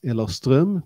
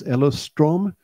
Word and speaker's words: Ellerström: My name is Ellerström, pronounced in Swedish. I could change that right now and be Ellerström, because I will be